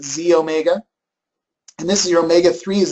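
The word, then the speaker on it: xEO Mega: one is the E it says XE Omega okay but we pronounce it Z Omega and this is your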